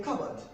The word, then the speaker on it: cupboard: In cupboard, the letter P is silent. Most people would pronounce this as a cupboard. Cupboard. But the P is silent. It's a silent letter.